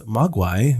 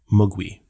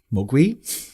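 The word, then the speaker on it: 魔鬼: our toes in so in cantonese magui means devil or demon or gremlin and the mandarin pronunciation is mugwi mogui i did not know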